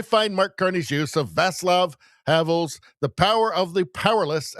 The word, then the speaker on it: Václav Havel: I guess it's pronounced Václav Havel.